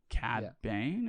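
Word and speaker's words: Cad Bane: say were the villains uh the mayor and cat bane is how you say his name i thought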